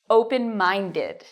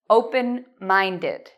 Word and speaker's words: open-minded: Students have a lot of trouble with the pronunciation of this word. Many students say, I am open mind, I am open mind. No, you need open-minded. Did. Students always forget the id at the end.